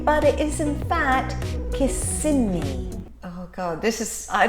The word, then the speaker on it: Kissimmee: I know the next one is looks like Kissimmee which is how I would pronounce it normally but it is in fact kissing me oh God this is I don't know why